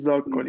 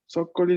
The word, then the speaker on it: zoccoli: Gli zoccoli. Zoccoli. No acento en la primera parte.